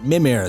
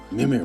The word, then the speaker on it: Mimir: Mimir, there we go. Mimir.